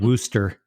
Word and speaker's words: Worcestershire: I think my mom called it Wooster. Wooster is probably a better word than Worcestershire, or whatever it's called. Worcestershire. Yes. Got some of that Worcestershire.